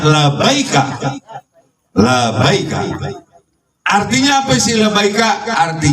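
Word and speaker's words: لبيك: Jadi dibacanya labaika.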